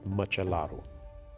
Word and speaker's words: Măcelaru: Christian Christian yes and last name is machalu machalu correct machaa like matcha exactly like matcha and Ru at the end so it's like a